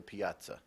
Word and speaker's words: piazza: fennel that is correct Piazza a large sculptured Fountain graced the center of the Piazza Piazza also pronounced Piazza language of origin this word came from Italian which formed it from a Latin word Piazza p-i-a-z-z-a Piazza that